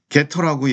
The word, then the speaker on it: getter: 우리가 프로퍼티만 선언했지만이 프로퍼티의 값을 읽어오기 위한 게터네 함수 이름은 개시지만 우리가 발음할 때는 겟터라고 얘기합니다.